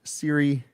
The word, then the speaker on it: Cirre: Again, my name is Siri. I It's okay if you pronounce my last name incorrectly. Uh that is uh I'm I'm used to it, but it's like the iPhone pronounced like the iPhone.